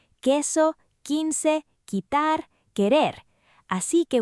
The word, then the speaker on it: que: And remember que en Spanish, la U and Q is not pronounced. Así que we say que and que softly.